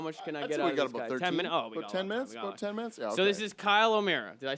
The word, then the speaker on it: Kyle O'Meara: for next break what how much this is Kyle O'Meara did I say it right yes okay cool